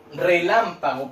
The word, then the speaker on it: relámpago: Relámpago podría ser otro, ¿cierto? Relámpago. Tengo 4 sílabas, independiente de eso. Relámpago. ¿Dónde cargo la voz? En la sílaba lam.